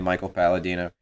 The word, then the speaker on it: Michael Palladino: uh at cycle Tarantino cycle underscore Tarantino it rhymes with my name Michael Paladino and I have a